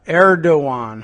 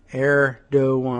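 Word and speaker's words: Erdoğan: Uh Erdogan, huh? That's the pronunciation or Eeran. Let me take a look at that side by side with the the spelling. Erdogan, huh? No, no G in that song.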